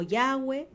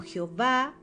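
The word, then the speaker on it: יהוה: Yod Hei Vav Hei, que algunos pronuncian como Yahweh, otros como Jehová, le conocemos como Adonai, el gran yo soy, el que no tiene sombra de variación.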